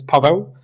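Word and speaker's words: Paweł: So uh in Polish my name is Pavo.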